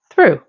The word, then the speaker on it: through: simple to pronounce through the first three letters can be a bit challenging to pronounce because we need to combine two consonant sounds together without a vowel in between the th sound and the r sound th this takes some practice but as you work